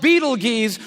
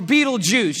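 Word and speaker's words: Betelgeuse: heard about this star it's called Beetle Gees or Beetle Juice you can pick your pronunciation I'm obviously going with Beetle Juice and Beetle Juice is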